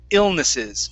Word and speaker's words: illnesses: Pronunciation-wise, this one here is illnesses. Okay, give me a short I at the very beginning.